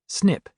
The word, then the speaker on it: SNP: One of the most important pieces of the genetic puzzle is a type of variation known as SNP pronounced SNIP which is short for single nucleotide polymorphism.